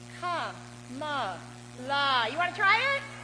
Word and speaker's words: Kamala: I've got another word with 3 syllables. It's ka-ma-la.